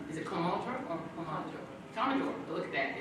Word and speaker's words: Commodore: Commodore. Look at that. It's spelled differently on my thing.